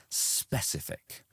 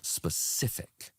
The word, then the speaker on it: specific: So you said specific. So you put the stress on the spe, but actually the stress would be on the second part, specific, like that.